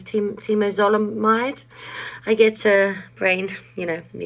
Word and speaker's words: temozolomide: And then I went on TMZ chemo, which I believe is pronounced as temozolomide.